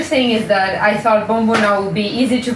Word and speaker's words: Bomboná: It's not that hard to pronounce actually. Bomboná. Yeah, Bomboná. So the other thing is that I thought Bomboná would be easy to pronounce.